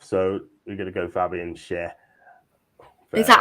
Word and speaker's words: Schär: So we're gonna go Fabian Schär. Is that how you pronounce it? Schär?